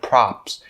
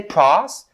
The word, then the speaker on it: props: middle of the word props props don't say pros don't say probs and it's props props and the piece out